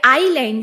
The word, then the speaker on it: island: अब हम आइसलैंड लिखते हैं जो कि हम बोलते आइलैंड है और एस लिखते हैं।